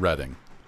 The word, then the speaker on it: Reading: the way it is it's kind of like reading and reading it's not the reading railroad even though that's what I used to call it when I played Monopoly as a kid I I mispronounce that